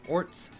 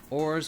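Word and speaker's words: orz: There's no set way to pronounce it. People may pronounce it orts, ors, or ors.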